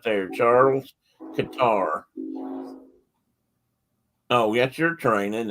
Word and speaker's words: Cottar: And that's him right there, Charles Qatar. Oh, that's your train, isn't it? And it's spelled Cottar, and that picture was taken in 1910.